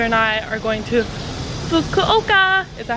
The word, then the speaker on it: Fukuoka: But then my sister and I are going to Fukuoka. Is that how you pronounce it?